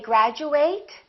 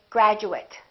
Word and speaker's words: graduate: or do we say graduate do we say eight or do we say it once again it depends on what kind of word it is if it's a verb we fully pronounced eight and it kind of